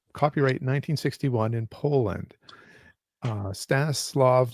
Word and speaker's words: Stanisław: Uh Stannis Slav Lem who I think if I remember right from another person telling me in a previous video it's Staniswaf is how you would pronounce it in Poland.